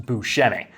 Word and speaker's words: Buscemi: His name is supposed to be pronounced Buscemi, but I'm going to